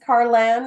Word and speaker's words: Carlan: all the time because it's but it's pronounced Ayan so people tend to like put new letters in there that don't exist like